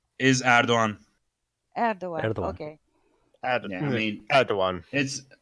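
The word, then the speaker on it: Erdoğan: Because between the French that say Erdogan and the Americans that say Erdogan, how is the it's real it's pronunciation? is Erdogan. Erdogan. Erdogan.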